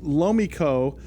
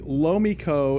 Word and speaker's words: Lomiko: chance to cover them for a while it's low Miko is the name of the company Lowe Miko is is spelled LOM i KO lo Miko metals it's